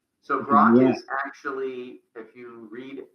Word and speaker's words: Grok: How do you how do you pronounce the So Grock is actually if you read uh Robert Heinline's Stranger in a Strange Land.